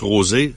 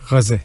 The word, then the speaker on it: Roset: Il y en a qui prononcent Rosé, mais Roset. Roset.